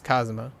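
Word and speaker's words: Kazama: kittyu's last name like kitties family name is cosuma but it's spelled k-a-z-a-m-a but if I read that like if I read that spelling out it would sound like Cosimo like in uh English or like English way I guess it was a little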